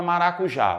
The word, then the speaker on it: maracujá: tenho aqui a palavra maracujá vamos vender comigo Olha o maracujá demora mais tempo onde no já concorda comigo se demora mais